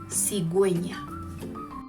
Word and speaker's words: cigüeña: But if you see this mark, diéresis, over the U, it means that U is no longer silent. We have to pronounce it. For example, agüita, cigüeña.